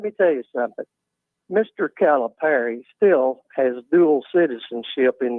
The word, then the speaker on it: Calipari: want to call in it's not Calipari it is calip Perry so pronounce the name correct Perry calip Perry who